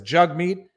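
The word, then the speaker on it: Jagmeet: likes of jugmeet singh i'm not mispronouncing his name i'm going to make sure everybody knows that that's how he pronounces his name it's on his twitter bio it says jug meat jug rhymes with hug meat yeah i'm a moderate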